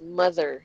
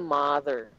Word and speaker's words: mother: that is pronounced as mother yyung o na iyan it sounds like a mother hindi siya mother mother it sounds it's the same sound as in brother it rhymes with butter smooth like butter ba